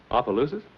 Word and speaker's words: Opelousas: Opelousas?